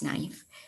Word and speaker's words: knife: pride, and his power in how to pronounce knife by refusing to accept the K silent.